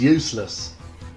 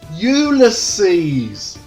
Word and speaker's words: Ulysses: 80s my dad kept telling everyone i was useless i told him at least 31 000 times dad it's pronounced ulysses later i learned this was the latin version